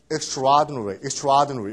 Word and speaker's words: extraordinary: 근데 이거 발음할 때 뭐 extraordinary 이러진 않습니다. 그냥 한 단어로 발음하죠. 모음이 두 개이기 때문에 그냥 한 단어로 extraordinary 이렇게 발음하는 게 extraordinary하고 똑같은 뜻입니다.